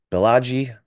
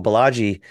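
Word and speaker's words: Balaji: Bellagio? Yeah, he rhymes with Bellagio in Vegas. That's how I remember. Remember the guy, the Coinbase CTO Bellagio, had made that $1 million Bitcoin bet.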